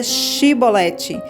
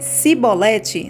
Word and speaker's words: chibolete: respondessem que não diziam Então diga chibolete se ele dissesse se bolete sem conseguir pronunciar corretamente a palavra prendiam e matavam no